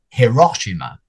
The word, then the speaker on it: Hiroshima: name of a city, a very famous city in Japan would be what an English speaker might call Hiroshima, or if you're British, Hiroshima. But in Japanese, it's not Hiroshima. It's not like the same concept of a letter H.